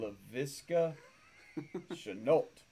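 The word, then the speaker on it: Laviska Shenault: LaVisca Chenault Jr.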